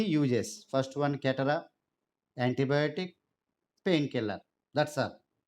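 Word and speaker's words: catarrh: Catara, CATTARAH. CATTARAH. You can spell it as catara.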